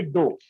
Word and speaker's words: dough: लेकिन वो आटा जिसमें पानी मिला दिया जाए वो कहलाता है डो। क्या कहलाता है भाई? डो। दो डो, DOUGH, डो, इसको डो पढ़ते हैं।